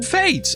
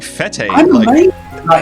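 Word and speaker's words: fête: a tradition I mean it's originally a French word um but it's been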